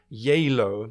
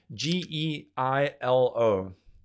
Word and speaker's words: Geilo: It's called Geilo, but it's spelled Geilo. Geilo. Geilo. I think that's how they say it in Norwegian.